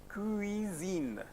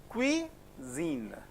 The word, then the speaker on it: cuisine: How will you pronounce this? Cuisine. Cui. See, UI you have learned. Oui. Lui. Same lui. Cuisine.